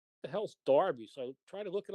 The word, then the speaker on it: Derby: of one of our midlands um cities at darby county yeah don't be yeah d-e-r-b-y yeah i